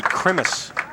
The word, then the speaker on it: Krimis: Jerry Krimis, I believe, is how he pronounces his last name, from Watertown.